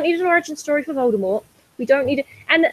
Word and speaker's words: Voldemort: Did you know Voldemort's name is pronounced Voldemort? Like, fuck off, J.K. Rowling. Jesus. It's French. You dropped the T.